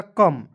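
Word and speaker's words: come: दोस्तों यहां आप देखेंगे सीओ एम ई तो देखेंगे सी का उच्चारण क लिख दीजिएगा और देखिएगा एम है तो म लिख देंगे ठीक है तो क्या हो जाएगा कम और ओ और इ को इसमें साइलेंट करके रखते हैं ठीक है चलिए इससे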